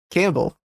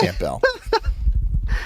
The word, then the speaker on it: Campbell: rejected i understand that the p is silent campbell soup you don't